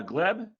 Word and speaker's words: Gleb: my first name usually makes uh problems with pronunciation for English people but you did it correctly my name is glb so in most cases uh when I live